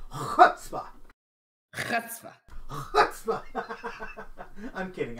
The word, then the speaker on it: chutzpah: You gotta say chutzpah. Chutzpah. Chutzpah. I'm kidding. I don't speak Hebrew. But I think that is actually how it's pronounced.